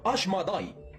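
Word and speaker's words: אשמדאי: أما في اللغة العبرية فينطق اسمه أشماداي.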